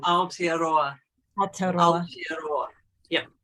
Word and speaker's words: Aotearoa: Fierce Hope, Youth Activism in help me with pronunciation. Aotearoa. Aotearoa. Aotearoa. Yeah. Aotearoa.